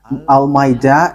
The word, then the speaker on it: Almeida: So the way you write it, Almeida, is as it is pronounced, Almeida.